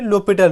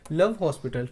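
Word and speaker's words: L'Hôpital: यूज़ करने पड़ेंगे जिसको बोलते हैं लोपट रूल ठीक है पूरा नाम होता है डीएल डी लोपट डी लोपट और एल हमारे पास स्टैंड होता है लव के लिए तो अगर इसको जैसे हम प्रोनाउंस अभी तक करते हैं तो उसको पढ़ेंगे डी लव हॉस्पिटल खैर तो इस तरीके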